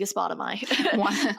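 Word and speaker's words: Aegospotami: Aegispotami.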